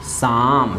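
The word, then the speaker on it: psalm: गाता है तो सिंग, नोट सिंग ए शाम, सिंग ए शाम। एक बार कह दिए कि एकरा में पी और एल साइलेंट है लेकिन ए से एम चालू है, यानी बोल सकते हैं।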